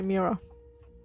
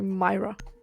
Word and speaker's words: Mira: Also, I do love how you say Mira. You say Myra. Yeah, my girlfriend hates me for it. Every time I say it, she's like, "No, that's not how you say it." That's not how it goes.